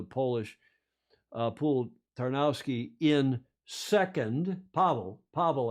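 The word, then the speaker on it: Paweł: Pavel, I think you pronounce that with a W.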